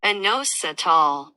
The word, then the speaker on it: inositol: that we can't pronounce without a Google translator, inositol. Huh. That's how you pronounce it.